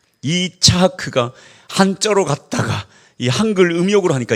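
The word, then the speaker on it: יצחק: 이삭을이 히브리 발음으로 하면 이차하크입니다. 이차하크가 한자로 갔다가이 한글 음욕으로 하니까 이삭이 된 거예요.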